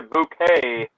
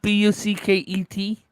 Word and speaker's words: Bucket: Pronounced a bouquet. Yeah, I've seen that. Yeah. Spelled Bucket. You mean bucket?